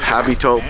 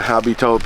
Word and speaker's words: habitant: And as habitant in French they don't pronounce the H when it's at the beginning.